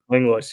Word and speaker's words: Langlois: Langlois, is that how you say it? Langlois, yeah.